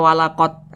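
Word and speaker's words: ولقد: Bacanya dipantulkan. Walaqad. Mantul seperti itu. Jangan dibaca walaqad. Tidak ada pantulannya, salah. Harus ada pantulannya.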